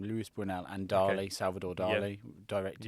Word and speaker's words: Luis Buñuel: It's like a really old film made by Buñuel, I think you pronounce his name, Luis Buñuel, and Dali, Salvador Dali directed it.